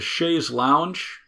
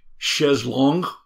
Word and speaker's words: chaise longue: Early recliners were modeled after the chaise lounge, and I'm using the American pronunciation. Say it with the French. French chaise longue.